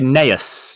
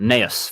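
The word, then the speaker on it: Gnaeus: Apothecary Neus, yeah. G is silent. Neus, 4 energy, 3/5.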